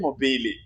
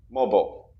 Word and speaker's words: mobile: No, I heard mobili.